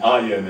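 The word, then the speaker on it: אין: Now that's the Hebrew spelling, and Ayin is the way it's pronounced.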